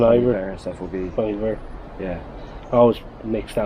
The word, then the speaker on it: Bon Iver: and stuff will be, Bon Iver. yeah. I always mix that up. Bon Iver. It's Bon Iver, but it's spelled B-O-N, is it? Yeah, I think it's French Oh, okay. for good winter.